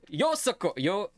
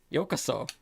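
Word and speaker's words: ようこそ: Yosoko. Yokoso.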